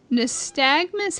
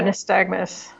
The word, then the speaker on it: nystagmus: So the term nystagmus, how do you pronounce it? Yeah, nystagmus.